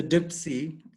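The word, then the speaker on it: CDPSE: us can anyone apply for a Dipsy and strangely enough that's how you pronounce it and so obviously there's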